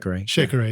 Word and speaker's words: Shekere: But rock stars, once again, go look at the YouTube video where John is playing Shekere. Did I pronounce that right? Shekere, yeah.